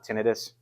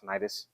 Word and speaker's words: tinnitus: Some people pronounce it tinnitus. I pronounce it tinnitus.